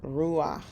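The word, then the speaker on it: רוּחַ: your pata here and when you have your hit combination you're going to flip-flop them just like noah noah here we have ruach where that flips it's one of the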